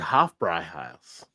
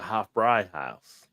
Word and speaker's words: Hofbräuhaus: Well, I know what an umlaut does over an O, but I did not know what an umlaut did over an A. Yeah, so it makes it like a higher pitch type, like a Hofbräuhaus. Like Hofbräuhaus.